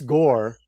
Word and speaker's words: Gore: a second because ER Chris Gore rhymes with war and it is a